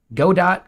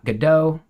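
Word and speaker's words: Godot: nerd you're learning some God do gdo depending on who you ask that's how they pronounce it uh kind of a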